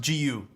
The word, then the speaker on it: JiU: So Tim, it's actually pronounced JiU. There's no ch sound apparently.